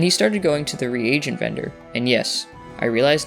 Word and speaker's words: reagent: Zulgold from now on would only sell to non-repair vendors, and he started going to the reagent vendor, and yes, I realize now it's pronounced reagent.